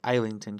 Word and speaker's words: Islington: I read recently a series called the Lycanius trilogy by James Islington with an S. It's pronounced Islington because he's British.